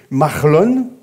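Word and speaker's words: Mahlon: ils vivent là alors les fils sont difficiles à prononcer c'est Marlon pour bien le dire et kilion Marlon et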